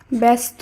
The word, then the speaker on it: ব্যস্ত: এ হিসেবে করতে হবে তাই ব্যস্ত ব্যবসা খ্যাত জ ফলা যুক্ত এই শব্দগুলির উচ্চারণ হবে এ হিসাবে এবং ব্যক্তি ব্যতীত ব্যতিক্রম